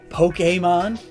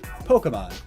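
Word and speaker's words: Pokémon: Heck, Pokemon, Pokemon. Pokemon, Pokemon. Both pronunciations from official sources.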